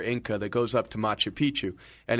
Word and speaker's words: Machu Picchu: so I will let one of you guys pronounce it. Machu Picchu.